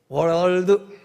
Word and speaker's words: world: 월드 R은 혀를 붙이지 말고 L은 혀를 붙이고 드 왜냐면 미국서 신학교 다닐